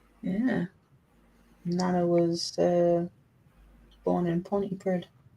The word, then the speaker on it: Pontypridd: Nana was born in Pontypridd. Pontypridd, not Pontypridd. It's Pontypridd. That's how it's spelled.